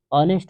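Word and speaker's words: honest: जैसे आपने सुना होगा ऑनेस्ट। शुद्ध उच्चारण इसका क्या होता है? ऑनेस्ट होता है। इस स्थिति में किसका प्रयोग होता है? ऑनेस्ट एच भले ही है लेकिन ध्वनि किसकी दे रहा है? वोवेल साउंड दे रहा है।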